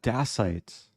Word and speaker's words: dacite: pronounce that name ah dacite it's like um stalagmite or bronite like the suffix ite is usually referring to rocks and so dasite is